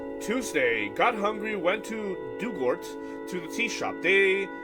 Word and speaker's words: Dugort: Pronunciation, Dugort. Like the past tense of dig and ort rhymes with hurt. Dug hurt, okay.